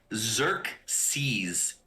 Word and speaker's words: Xerxes: so i'm seeing uh i'm seeing zerk seas is the way it's pronounced so okay so we're bringing it back to uh xerxes right like the uh